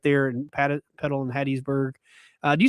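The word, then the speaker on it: Hattiesburg: I say Hattisburg because I know that the story is that it's named Hattisburg after somebody whose name was Hattie and so I emphasize Hattie, but I do think more people probably say Hattisburg.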